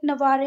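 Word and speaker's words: Navarre: वाली है तो जरा इस बात को ध्यान रखना कि इसको सिर्फ नवा पढ़ते हैं यह डबल आरई को छोड़ देते हैं क्या पढ़ते हैं सिर्फ नवा जबकि अगर आपको भै आप बाद में स्पेलिंग ध्यान नहीं आए तो नवारे ही पढ़ लो आप पर बाकी पढ़ते कैसे हैं इसको नवा ठीक है तो फ्रांसिस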